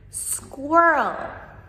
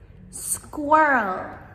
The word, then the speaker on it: squirrel: However, we just put all those sounds together to make squirrel in one syllable.